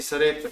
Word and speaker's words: Sarepta: Sí, Sarepta, bueno, en inglés sale como Sarafat, pero es Sarepta en español.